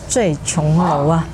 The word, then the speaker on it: 醉瓊樓: But I think it's because of the Mandarin pronunciation of "Zui Qiong Lou". The homonym is "the poorest restaurant".